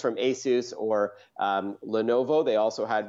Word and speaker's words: Asus: you saw one from Asus is it ASIS or ASIS how do you say it yeah its most people say ASIS but it is Asus yeah you're right so